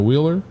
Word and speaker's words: Wheeler: from texas i'm like wheeler you gotta say like wheels you know like wheels you know wheeler yeah you don't pronounce the h at all it's just i don't